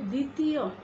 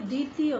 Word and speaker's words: দ্বিতীয়: ভাবেই উচ্চারণ করছি ধ্বনি তারপরে আবার যদি বলি দ্বিতীয় তাহলে দ্বিতীয় দ্বিতীয় বানানেও কিন্তু দয় শব্দের শুরুতে যে দ এর সঙ্গে বফলা যুক্ত রয়েছে সেই ব এর কোন উচ্চারণ তো হচ্ছেই না উচ্চারণ করছিই না এবং এই দ এর উপরও কোন প্রভাব ফেলছে না আমরা স্বাভাবিকভাবে যেভাবে দ্বিতীয়